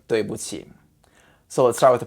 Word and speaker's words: 对: It's spelled D-U-I. The D sounds like in English D, duh. And the UI is actually pretty easy too. It sounds like in English way, like the word this way, that way.